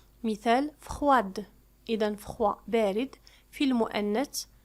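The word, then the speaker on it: froide: لكن عندما نحول الصفة إلى المؤنث فإننا نضيف أ وتصبح يعني الدي تنطق. مثال فخواد.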